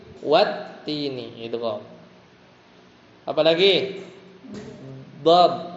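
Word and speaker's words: والتين: Bukan wal-tini tapi wat-tini.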